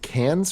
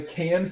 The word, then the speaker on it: Cannes: of a competition at the 2006 is it Cannes Film Festival right that's right yeah Cannes Film Festival and another audience what know it it's pronounced just tan like a camel festival yeah